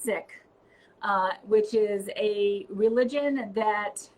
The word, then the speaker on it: Sikh: a Valery Kumar and she's a Sikh and she says pronounced sick which is a religion